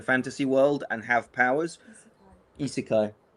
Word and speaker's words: isekai: be a sort of Itsukai, people go to sleep on a stag do and wake up in a fantasy world and have powers. Isekai. Sorry, Jay, correcting my pronunciation.